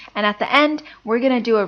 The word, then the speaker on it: 一: Now, normally when it's pronounced, E takes the first tone. However, E will take the second tone when directly preceding a fourth tone. So something that was originally 1-4 becomes 2-4.